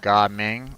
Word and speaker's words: Gaming: The voice actor pronounces it like Ga Ming.